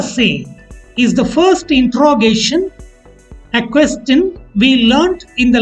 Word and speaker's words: est: C apostrophe is originally CE, a monosyllabled word that has become C apostrophe before a word starting with a vowel EST, pronounced as A.